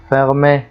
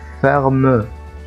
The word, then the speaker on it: fermé: زي لما بقول مثلا fermé مقفول، ما قلتش ferme، ما قلتش هنا ايه ferme، لا خطأ، قلت fermé.